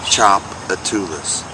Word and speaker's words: Tchoupitoulas: this out you don't know that to pronounce Tchoupitoulas that is pronounced Tchoupitoulas thinking they were handed out names to things